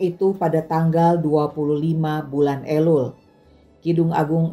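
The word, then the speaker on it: אלול: Ejaan Ibraninya Alef Lamet Vav Lamet, dibaca Elul, artinya bulan ke-6 dalam kalender Ibrani, bulan pertobatan, bulan persiapan hari raya.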